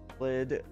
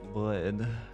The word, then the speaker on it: bröd: Vin och blöd. I feel like I'm pronouncing blöd too French.